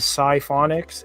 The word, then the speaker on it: Sci-Phonics: read, the name is Sci-Phonics, is how you say it. The name is actually three parts. Sci-Phonics, the psi is part of psychology or psyche, which relates to the mind and how we think